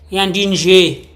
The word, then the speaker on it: Yandie: Yandie. The Y is silent.